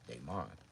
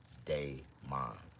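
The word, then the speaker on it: Daymon: mispronounce my name and I'mma tell you my name is Deon no hold on it's not pronounced that way my real name is dayon now dayon d a y m o n dayon and so they be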